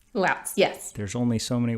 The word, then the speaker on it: Lautz: Did I pronounce that right? Lautz? Lautz, yes.